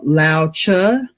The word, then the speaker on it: Lao Tzu: It's actually a Chinese proverb from Lao Tzu, Laotzu, and I listened to the pronunciation because I wanted to make sure I got that right.